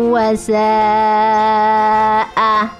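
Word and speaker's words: سَاءَ: Fahisyatan wa, fahisyatan wa sa'a. Nah, ini ada bacaan mad bertemu dengan hamzah dalam satu kata, maka ini hukum bacaannya adalah mad wajib muttasil, panjang sekali sampai dengan 3 alif.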